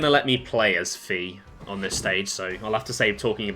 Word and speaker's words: Fi: Now, some people do pronounce it fi, but I have I don't know why I've always just defaulted to fe.